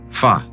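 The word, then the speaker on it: 发: na cultura chinesa pois a sua pronúncia ba é semelhante à palavra riqueza ou Prosperidade que se diz fa devido a isso o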